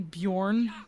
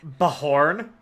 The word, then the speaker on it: Bjorn: Better than hearing someone say Bjorn, but actually pronouncing the J and not the... Yeah, so Bajorn. Bajorn. Yeah. Would you prefer Bahorn? Like, the Spanish way to use a J?